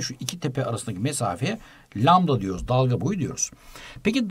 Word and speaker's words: lambda: çukur arasındaki mesafe şöyle biraz garip bir sembolle gösteriyor lambda diye okunuyordu bu Bu dalga boyu